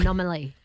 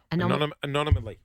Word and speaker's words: anomaly: Anomaly. Anonymally. Yeah. How do you say it, Clint? Anonymally. Anomaly? Anomaly. That's it. Yeah, I think yeah, you're putting an extra syllable Oh, in.